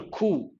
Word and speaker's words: coup: anything readily the madagascar coup p is silent here attempt ended in a